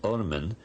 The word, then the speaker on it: Ormen: They only wrote the consonants, and the word is RMN, to be pronounced Ormen, and it means literally the worm.